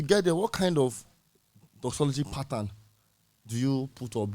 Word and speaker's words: doxology: i when i told my mentor i actually pronounced it like dog zoology so i told him that this name i